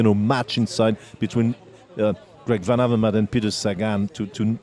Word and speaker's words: Greg Van Avermaet: details hey whitey uh i heard you have some trouble with pronouncing my name it's greg van avermaet manaverman yeah um i think